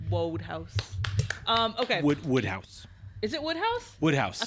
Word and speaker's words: Wodehouse: It's Woodhouse, not Wodehouse. I looked it up. I it is fact checked Woodhouse. my own fact check, and I was wrong. Wodehouse. Okay. Woodhouse.